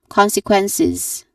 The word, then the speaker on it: consequences: Still ending with a nasal sound, letter n, and then it ends with c's consequences. So there's a short a vowel sound and a buzzing sound at the end despite its spelling with a letter s with a letter s which is a hissing sound supposedly.